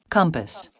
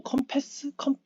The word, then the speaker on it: compass: compass, compass, 어, compass, 또 이렇게 또 compass, 배우네요. 저는 컴퍼스라고 생각 안 하고 컴패스 줄 알았거든 발음이. 근데 강세가 또 앞에 있어요.